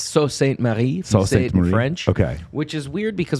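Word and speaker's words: Sault Ste. Marie: uh it's different because this is a french pronunciation of the word salt yeah no it's it's just weird it's it's so saint mary okay which is weird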